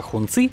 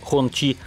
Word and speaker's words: Хунци: Постоянные зрители новостей с колес обязаны знать, что китайская марка Хунци, или в модной сейчас точной передаче китайского произношения Хончи, известна своими правительственными лимузинами и парадными кабриолетами для партийной верхушки КНР.